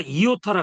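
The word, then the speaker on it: ἰῶτα: 이걸 우리가 이오타라 그래요. 이오타. 그러니까 이오타니까 발음은 짧은 이자예요. 사실은 이.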